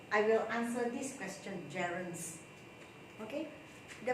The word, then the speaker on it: gerund: So today again, I will answer this question, gerunds. Okay, the pronunciation is gerund and I have heard people saying gerund, so I would say it's gerund.